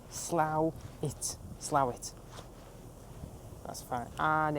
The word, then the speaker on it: Slaithwaite: And before we even get any further, how you pronounce it is Slaithwaite, not Slaithwaite. A lot of locals here don't like when tourists and people call it that. So let's just get it right. Slaithwaite.